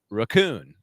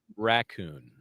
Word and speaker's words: raccoon: because that because of his pronunciation was raccoon and not raccoon. Okay. Yeah. He put the accent on the second syllable.